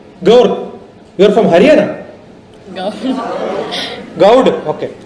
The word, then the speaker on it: Gaur: Gaud. Okay. Gaur is Haryana. Gaud is here. Small difference. R is silent somewhere, right?